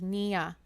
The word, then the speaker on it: Nina: He pronounces it Nia.